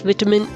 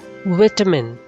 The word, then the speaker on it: vitamin: Next linking word is vitamin. Vitamin. This is British pronunciation. Vitamin is American pronunciation. You can choose any, vitamin or vitamin, but not vitamin.